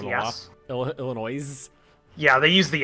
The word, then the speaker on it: Illinois: was it when somebody's like as to say Illinois but they decide to pronounce yeah Illinois is yeah they use the s4 note for